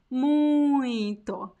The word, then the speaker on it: muito: because uh the the the nasal diphthong only only exists in this word in one word muito there are not other